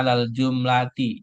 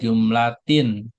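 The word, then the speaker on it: على الجملة: Di sini dibacanya alal jumlati, jangan jumlatin. Karena ada alif lam. Kalau ada alif lam nggak boleh tanwin.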